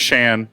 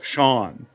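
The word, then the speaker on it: Shaan: She's convinced your name is Shan. I'm just saying. It's not. See? From the horse. Spelled, No. It's spelled S-H-A-A-N. All right, leave it It's alone. spelled- And that's how you say Shan. No, Sean. Sean.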